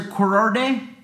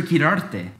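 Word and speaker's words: Quirarte: say my last name gotta roll that R and if you can't roll that R you can say this key Roar Arte it would be officer kirarte but I get it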